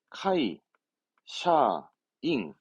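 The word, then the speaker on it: 会社員: 발음은 카이, 샤, 잉.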